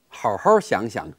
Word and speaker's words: 好好: Now, as we've noted before, the 好 character, the second one, is pronounced in the first tone, so 好好。For example, 你好好想想，到底把球拍放哪儿了？ Think carefully. Where did you put the racket in the end? 好好想想， think carefully.